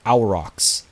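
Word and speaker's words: Aurochs: think it's a little premature who are these arcs they are so I was told in the comments it's actually pronounced our rocks which thank you for letting me know because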